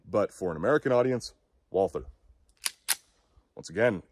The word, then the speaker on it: Walther: I am aware that it is not said Walther. Someone in the comments is surely going to point that out. The German pronunciation would be something closer to Walther, but I do not fluently speak German, nor does the vast majority of my audience.